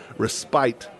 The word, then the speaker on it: respite: It's the 5th through the 7th for a respite, or as I prefer to say, because it's the right way to say it and the British way to say it, respite.